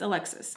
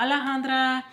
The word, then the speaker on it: Alexis: my name wrong like it's alexis it's not alejandra like i don't understand